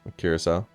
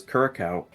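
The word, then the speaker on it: Curaçao: Curacao. I thought it was Curacao.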